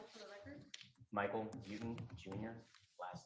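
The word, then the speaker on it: Beauton: Please state your name and spell it for the record. Michael Buten Jr., last name B-E-A-U-T-O-N. And your affiliation? I'm a sergeant with the Connecticut State Police. Sergeant Buten, you may be seated.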